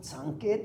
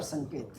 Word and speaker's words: Sanket: Is it Sanket or Sanket? So both pronunciations are accepted.